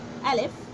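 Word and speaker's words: ألف: letter is Alice Alice Alif how to pronounce this letter Alif who pronounce it as ah or Oh Oh what is the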